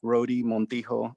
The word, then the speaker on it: Rhode Montijo: uh you could look my full name at rhodey montijo r-h-o-d-e spelled like rhode island and then montijo j m-o-n-t-i-j-o